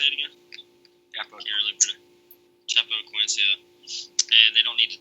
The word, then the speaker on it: Chapecoense: Chapecoense.